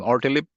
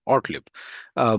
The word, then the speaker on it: Ortlieb: How do you pronounce her last name? Ortlip? Thank you, Robin. Ortlieb.